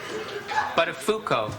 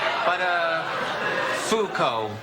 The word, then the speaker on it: Buttafuoco: It's, Buttafuoco. Buttafuoco. What did I say? Well, Matthew, of all the possible mispronunciations of that name, you seem to have stumbled upon absolutely the worst one.